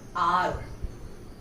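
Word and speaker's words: hour: Next, you can see the word R. We don't say war. So H is silent.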